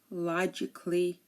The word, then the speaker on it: logically: pronounce the letter A but if a word ends in i c a l l y uh most people don't pronounce it um here are some